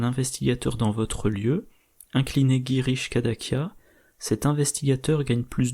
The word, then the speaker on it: Girish: Bon, je viens de regarder, donc ça se prononce Girish.